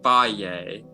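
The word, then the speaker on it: Fage: is a color and that fade yogurt is pronounced faye and um i've been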